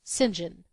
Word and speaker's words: St John: plenty of his own his name was Cuthbert St John pronounced singen he had four names